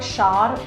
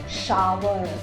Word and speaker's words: shower: सो इट इज़ not pronunciation, it is pronunciation. Okay, it इज़ नॉट शार, इट इज़ शावर।